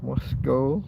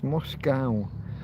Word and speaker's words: Moscow: Yeah, we can argue about See, the way Americans pronounce Moscow. The word ends with C O W, so they say cow, but we have that scup. So, it's mo and then O.